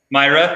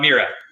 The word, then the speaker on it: Myra: thanks so much and i apologize for mispronouncing it myra not mira so myra so any questions for